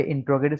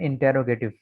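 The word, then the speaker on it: interrogative: के एतबार से, हाँ आमतौर पर इसको लोग पढ़ते हैं इंटेरोगेटिव, तो इंटेरोगेटिव नहीं होता, ये होता है इंट्रोगेटिव।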